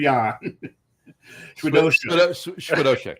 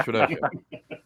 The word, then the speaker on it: Chwiedosiuk: Jan. Chwiedosiuk. There you go. Chwiedosiuk. There we go. We're trying to teach John how to say it. Jan Chwiedosiuk. I said, turn the I's into H's. You'll be okay.